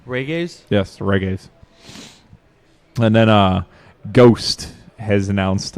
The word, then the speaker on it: Ghost: And then Ghost has announced... I believe it's pronounced G-Host. Yes, G-Host.